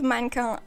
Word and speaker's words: mannequin: But mannequin is a French word, okay. So I'm going to pronounce it the right way, mannequin.